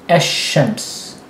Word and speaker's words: الشمس: You stress it, and you don't pronounce the L. So you go straight from ash-shams, as opposed to the